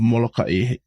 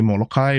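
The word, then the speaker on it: Molokaʻi: Some say Molokai without the okina. Some just say Molokai. I don't know. I've always known it as Molokai, so that's what I call it as.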